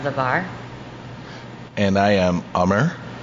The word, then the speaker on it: Amar: And I am ummer, pronounced Hummer, like the SUV. Take the H off.